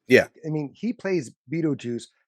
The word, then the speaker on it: Beetlejuice: I mean he plays beeto juice which I don't really understand how you pronounce p beeto juice with the way it's spelled it's more like Beetle well ale like Alex's